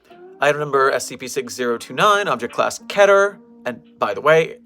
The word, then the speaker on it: Keter: It does not rhyme with meter, so keep that in mind.